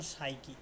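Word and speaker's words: psyche: যেমন সাইকি মানে কি?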